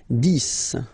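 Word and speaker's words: dix: 10, okay, so remember, final X here is pronounced like S, 10, 10, okay, then 11,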